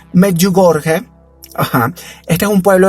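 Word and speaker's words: Medjugorje: María en y ojo atención a la a la pronunciación meju gorge Ajá Este es un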